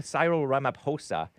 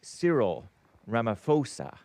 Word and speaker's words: Cyril Ramaphosa: I call him Cyro Ramaposa. But Derek the black producer and Anker baby corroborates. It is pronounced Sirill Ramaposa whatever.